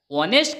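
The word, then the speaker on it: honest: एन आएगा N umbrella ऑनेस्ट का pronounce भी अ से शुरू होता है तो इसके आगे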